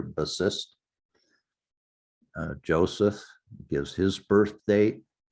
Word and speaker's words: Bassist: Here it is, Bassist, which in Hungarian is pronounced the same way we pronounce it here, Bassist.